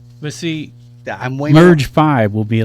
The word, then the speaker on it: Merge V: You got to spell it on radio phonetically. Merge but I'm saying how it really is, Merge 5.